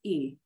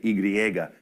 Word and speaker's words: y: We don't say y, because that's really just the name of the letter, right? We just say e. It sounds like the letter I almost.